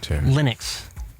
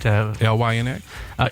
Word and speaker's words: Linux: I guess you pronounce it LYNX. Yes. No. LINUX.